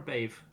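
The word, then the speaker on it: Badhbh: Bave is spelled Bedhbh, Yeah, and DH in Irish is silent, yeah, generally speaking, and BH is a V sound, so it's Bave.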